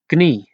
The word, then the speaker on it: knie: Knie, knee. Make sure you pronounce the K.